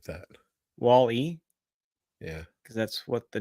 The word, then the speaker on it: Wall-E: robot says it in the damn movie Chris Wall-E wall that's how the robot